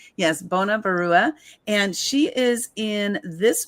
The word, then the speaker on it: Banya Barua: Bona, I pronounced it correctly. Yes, Banya Barua.